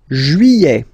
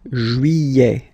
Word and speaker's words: Juillet: Juillet. Okay, you get this double L here. Y-y-y-y-y. Juillet. Juillet. Don't pronounce this final T, E-T here at the end.